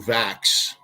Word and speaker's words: Vachss: I had the greatest fortune of my life in that I was mentored by Andrew Vax.